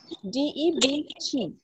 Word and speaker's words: debt: Okay, you spell that word which is not able to pronounce. D-E-B-B. Sorry? Okay. D-E-B-B. D-E-B-T.